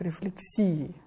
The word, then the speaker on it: рефлексией: стороны носи а посмотреть это мы будем называть рефлексией с ударением на последний слог хотя это опять не